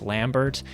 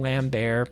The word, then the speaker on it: Lambert: to let you know, I think his name is actually pronounced Lambert, but I still love saying Lambert because that's how he was introduced to me somehow, so I'm still going to call him Lambert, and if you don't